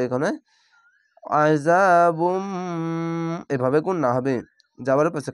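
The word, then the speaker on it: عذاب: আইন যাবার আ, জাল আলিফ যা, আযা বা মিম পেশ বুম, আযাবুম। তাসদীদ ওয়ালা অক্ষরের সাথে মিলতে গেলে একটি জাবার, একটি জের বা একটি পেশ বাদ হয়ে উচ্চারণ হয়।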